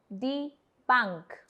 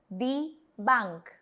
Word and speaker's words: die Bank: The next word is die Bank, which is again very similar to English, the bank, but the pronunciation is different. Please repeat after me. Die Bank. Die Bank.